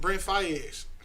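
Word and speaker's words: Brent Faiyaz: Brent Fayez.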